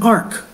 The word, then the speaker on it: Arch: surfaces of far-flung planetary bodies it's called an arc pronounced Arc a r k tiny storage device built